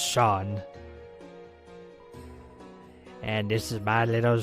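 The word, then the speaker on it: Seam: hope the lighters will return a name seemed pronounced Shaun and this is my little shop hahahaha over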